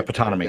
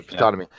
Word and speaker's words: Ptonomy: Yeah, Ptonomy. Yeah, Ptonomy.